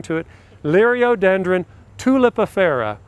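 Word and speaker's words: tulipifera: it Lee Rio dendron tulip affero or two Lipper see everybody pronounces I'm different I can't imprint on sit the different way I always learned it tulip affero it almost sounds like it's a tulip affair but if that's that's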